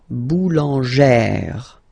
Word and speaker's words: boulangère: plus this accent grave, you pronounce it like E, really open E sound. Okay, so boulanger, boulanger, and then feminine form, boulangère, boulangère. Same thing, don't insist too much on the final E, boulangère.